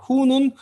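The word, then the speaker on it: הוא: 자 후라고 얘기하면 자 후라고 발음하면 뒤에 알레프 아라고 발음하지 않습니다. 알레프는 모음 아니에요. 여기서는 지금 아무런 모음 표기가 없으니까 묵음 처리를 하시면 됩니다. 그냥 후로 발음이 끝내시면 돼요. 후는 3인칭 남성 그 사물일 경우엔 그것.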